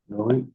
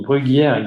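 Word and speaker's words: Bruguières: Bruguière. So Bruguière is a French, so this is a way to pronounce the name, Bruguière.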